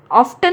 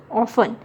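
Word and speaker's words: often: ऑफ्टन नहीं बोलते, ऑफ्टन, नो, ऑफन।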